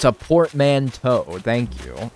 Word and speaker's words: portmanteau: it's not without showing me proof it's a Portman toe thank you it's a portmanteau Poor Man's toe try the zoom trick again nope don't work